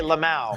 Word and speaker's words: LMAO: Is that how you say it? You actually say Lamau.